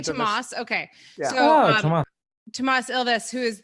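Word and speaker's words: Toomas: tomas ilves he was oh you say tomas okay tomas elvis who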